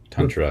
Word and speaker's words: Tantra: AA so um but Tantra is just a short a a lot OFA than